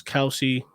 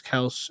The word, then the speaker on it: Kelce: He's not your Travis Kelce or Travis Kelce, as he said to pronounce his name.